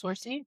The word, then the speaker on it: Saoirse: Sorcy? Yeah, Saoirse.